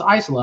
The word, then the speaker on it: Isola: mmm-hmm Isola is amazing whether it's Isola Isola I looked it up into one of those youtube pronunciation things and I've heard Isola so I started saying Eisel and everybody corrects me at the shop they're like no it's Isola I'm like what it